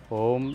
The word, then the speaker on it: ओम: हम ब्राहरी के बाद जो है अब हम ओम का उच्चारण करेंगे। ओम जो है वह आ, ओ और म तीन चीजों से मिलकर बना है। तो तीनों पर ही हमको बराबर फोकस करना है।